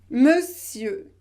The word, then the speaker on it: monsieur: vous devez prononcé eux monsieur et ne prononcez pas le r final non non non non